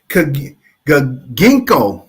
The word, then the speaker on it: Ginkgo: me see I'm gonna put there it is Ginkgo that's how you say it Ginkgo Ginkgo all